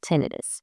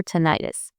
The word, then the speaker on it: tinnitus: This condition is called tenidis or tonitis. Either pronunciation is correct.